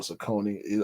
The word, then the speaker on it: Saucony: I think those are the two ways we always pronounce it, either Saucony or Saucony. I think the correct pronunciation is Saucony. Saucony, yeah.